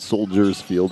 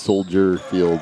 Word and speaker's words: Soldier Field: silent but there's plenty people in Illinois that pronounce it correctly - it's like soldiers filled by the Bears play it's not soldiers field it's Soldier Field but yeah whatever so I'll Jen down with